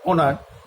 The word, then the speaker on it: honour: আবার অনার, HONOUR, অনার, অনার মানে হচ্ছে সম্মান, এখানে এইচ কিন্তু তার নিজের উচ্চারণটাকে হারিয়ে ফেলছে।